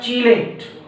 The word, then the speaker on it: chelate: more term claim or may also be pronounced as chelate c h e l te dyed intelligence and